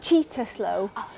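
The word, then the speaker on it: Cittaslow: citta slow status and it's pronounced cheetah slow and yes we do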